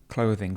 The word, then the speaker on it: clothing: Pronunciation of the word clothing. Clothing. Very difficult for people from countries without this th sound again.